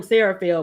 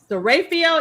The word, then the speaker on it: Seraphiel: Because remember when she came on the show, I was always calling him Seraphil, but it's pronounced Seraphiel.